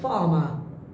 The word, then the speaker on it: farm: যেমন প্রথমটা বললাম, my father is a farmer.